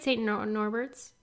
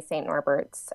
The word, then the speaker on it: St. Norbert: St. Norbert's? Is that right? St. Norbert, but actually locals say St. Norbert's.